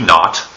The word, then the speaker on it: naught: V 0 or V naught and yes I am saying not here you can sort of think of it as n ot so V naught that's what I'm saying